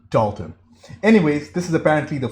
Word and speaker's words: Dalton: Thank you for the correction in pronouncing his name, as I've been calling him Dalton for the longest time. It's Dalton.